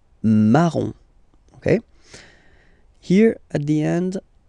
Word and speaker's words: marron: rose, rose, okay, then O-N, here goes like on, remember, in your nose, on, on, okay? So the full thing goes like marron, marron, marron, okay?